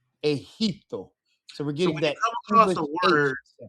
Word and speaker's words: Egipto: For the ones that are not color coded, these are our H sounds. Generoso, Egipto. Okay. Generoso, Egipto.